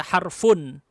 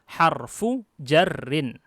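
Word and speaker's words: حرف جر: Cara bacanya juga antum harus ingat, jangan dibaca harfun. Bacanya harfu jarrin.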